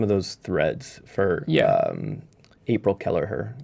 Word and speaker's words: Kelleher: those threads for April Kelleher. Keller? Am I? Keller? Keller? Yeah. Kelleher? I don't think we're pronouncing the H. Oh, really? Is it a soft The H is silent, like Amish?